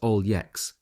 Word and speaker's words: Alex: Willy's best friends was Alex pronounced all yex a heave pronounced an